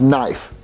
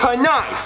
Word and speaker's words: knife: There's a K, so you pronounce it knife. Well, Jeffy, the K is silent.